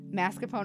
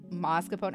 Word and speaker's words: mascarpone: Mascarpone over, or mascarpone. I never know how to fucking pronounce that. People around me have pronounced it mascarpone, but I refuse to believe that.